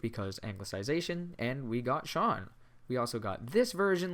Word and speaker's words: Sean: there you have it that's the reason why my name is spelled scene and said sean i'm not going to